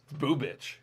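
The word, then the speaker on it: Bubic: Boo Bitch. Boo bitch? That's why I was getting on that, because it's pronounced Boo Bitch.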